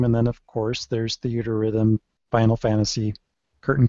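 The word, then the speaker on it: Theatrhythm: at Rhythm I'm like do you mean theater Rhythm but he hasn't wasn't hearing anybody in Japan pronounce it any other way so he was calling it The at Rhythm kind of like it's a a preposition it doesn't make any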